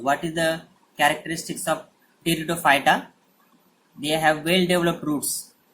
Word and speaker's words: Pteridophyta: So division third is Pteridophyta. Don't say P. P is silent here. So Pteridophyta. So what is Pteridophyta?